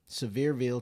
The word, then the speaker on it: Sevierville: 2 Rivers Landing in uh I think it's pronounced um it's a severeville Sevierville Tennessee so super cute um RV Resort um